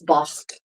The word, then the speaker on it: bought: They're still pronouncing in Chaucer's English, they're still pronouncing the GHs. So it's not bought, but it's bocht, tocht, tocht, right? That's how those words would be pronounced. So yeah, it's definitely more